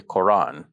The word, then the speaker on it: Quran: reading of Ibn Kathir, this Hamza in the middle of the word, which I've just described as a glottal stop, is not pronounced. So they would just say Quran.